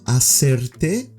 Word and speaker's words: hacerte: ¿Puedo hacerte, the H is silent, una pregunta, a question?